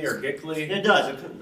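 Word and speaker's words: giclée: Like, looks like Jickly or Gickly. It does. It's spelled G-I-C-L-E-E.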